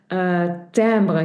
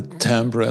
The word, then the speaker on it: timbre: I like the timbre. That's also, by the way, the name of your company. Yeah, So yeah. so the sound Phonetically, colors. phonetically spelled TAMBR.